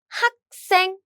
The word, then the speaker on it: 학생: 짠, let's look at the first syllable, and it has this 기역 as 받침, right? 받침. So what happened is this sound get doubled.